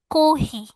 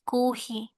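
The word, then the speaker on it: コーヒー: আর কাতাকানায় যদি বলি, কাতাকানায় chocolate, pizza, আইস কোহি, কফি না বলে এটাকে উচ্চারণ করছে কোহি। ওকে। নর্মালি ইংলিশ কিভাবে কফি হয়, বাট ওরা অ্যাকুরেট ইংলিশটা উচ্চারণ করবে না, ওটাকে একটু ডিফারেন্ট ভাবে করবে, কোহি, আইস কোহি।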